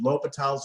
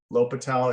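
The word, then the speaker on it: L'Hôpital: you remember doing it l'hopital it's spelt like this it's felt like the hospital or patel's rule sir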